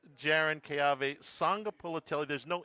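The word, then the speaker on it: Sagapolutele: Sanga Polutelli. Again. Jaron Keave. Sanga Polutelli.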